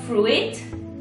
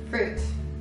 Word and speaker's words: fruit: quindi la parola frutta quindi non si pronuncia Fruit cosa che ho sentito pronunciare incorretta si pronuncia Fruit Fruit quindi facciamo anche un